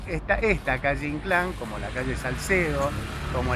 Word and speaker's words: Inclán: muy lindo sobre omar han sido habla de inclán con acento en la y como solíamos decir en el